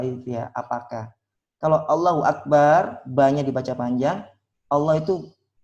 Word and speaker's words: Akbar: Allahu Akbar, yang benar kan pendek, Akbar.